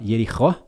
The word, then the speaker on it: Jericó: Uma é a Jericó, né? Em hebraico fala Jerichó, seria a pronúncia, né?